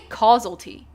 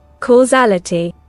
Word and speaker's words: causality: Cuz I want to say causalty. Is it causalty? Imagine it's causalty. And I've been saying it wrong the whole time. Wait, this calls for a Google search. How do you pronounce this? Okay, let's see. Causality. Okay, it is causality.